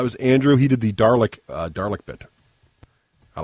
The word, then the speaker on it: Dalek: I don't even I don't think it rhymes with garlic, is what I'm saying.